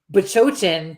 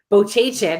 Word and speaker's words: Bachochin: You, on the other hand, we could say Bachochin to you 25 times to your face, and you're still going to say Bochachin every time.